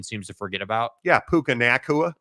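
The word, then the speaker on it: Puka Nacua: to forget about yeah puka nakua like come on dude that's how you say his name but it's not pukaa it's way more funner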